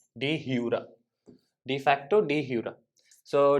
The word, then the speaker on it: de jure: J is silent, it's jure. Okay, de jure.